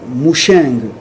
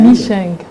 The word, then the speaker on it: Micheng: D'abord, Madame Moucheng Mbidi Esther. J'ai bien prononcé votre nom, Moucheng? Micheng. C'est Micheng Mbidi.